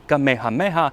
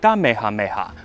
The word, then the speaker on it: Kamehameha: Case in point, the first king of a united Hawaii was not King Kamehameha, but King Kamehameha, with a T sound, and they wanted to not have a T in the alphabet, so they just changed his name.